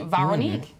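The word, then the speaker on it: Véronique: They've got an accent on the E, like me, Veronique.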